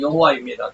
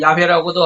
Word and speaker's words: 여호와: 때로는 순복음 계통에서는 여호와를 야훼라고도 하기도 하고 그러죠. 뭐 여호와나 야훼나 외국말이니까 그것을 발음하기에 따라서 다릅니다. 그래서 뭐 야훼라고 그래도 되고 여호와라고 그래도 되고 발음하는 사람의 차이니까 여호와가 뭐야, 야훼지, 뭐, 그러지 마세요. 똑같아요.